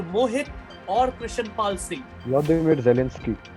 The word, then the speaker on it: Volodymyr Zelensky: Vladimir Zelensky. Volodymyr Zelensky, says Krishan Pal, and such a nice pronunciation as well.